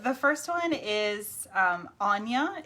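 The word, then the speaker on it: Áine: first one is um anya it looks like ain a-i-n-e it's anya she is irish um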